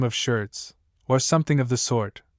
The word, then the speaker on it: Schertz: of the name of Schertz, or something of the sort, Mr. Blenkinsop pronounced it to rhyme with Hertz, who was declaiming away